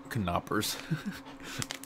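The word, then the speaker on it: Knoppers: the same thing FY the K is not silent yeah it tells you right there how it's pronounced it's pronounced car not hers kanaa purse it looks like the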